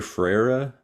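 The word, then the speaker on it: Freire: him was Paulo freden I think in in US you say Pao fre how you pronounce I hear a variety Paulo I think I hear frera that's that's a very American way to say it Paulo fera um but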